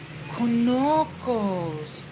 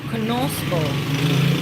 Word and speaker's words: conozco: Conozco. Conocos. Conocos. Conoco. Ah, that's how you say it. Gracias. Conozco.